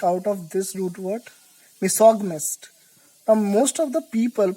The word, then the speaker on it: misogynist: Misogynist. Now most of the people pronounce it wrong. They pronounce it misogamist.